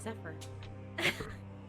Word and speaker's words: Zephyr: Yeah, like the car, Zephyr.